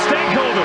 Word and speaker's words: Stankoven: It's Stank and Oven. So Stankoven is what we're going with.